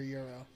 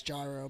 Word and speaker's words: gyro: Is it gyro or euro? Euro. It's Euro. What, are they having a debate about that in the chat? No, I'm telling you it's gyro, but I understand that it's euro.